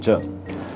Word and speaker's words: 柳井: 但這就是年輕時的柳井正 It turns out this is the young Tadashi Yanai. 附帶一提 Incidentally, 偶爾會看到華語圈會搞混 I've seen the Chinese circles get his last name wrong on occasion. 他的姓其實是「柳井」やない It's actually "Yanai", 不是姓柳 not "Yanagi".